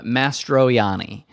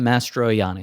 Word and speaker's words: Mastroianni: Oh no, there's no L. It's Adam Mastroianni. Oh, okay. Adam Mastroianni.